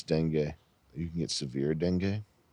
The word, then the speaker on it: dengue: How do you type in how to pronounce dengue? You can get severe dengue. It's like Bengue. Dengue, for real.